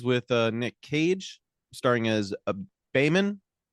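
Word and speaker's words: Behmen: Yeah, we start as always with Nick Cage, starring as Beeman. I can't remember how they pronounce it. It's Bayman.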